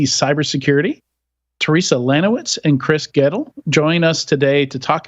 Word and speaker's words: Goettl: I'm hoping Goettl is the right Goettl, pronunciation.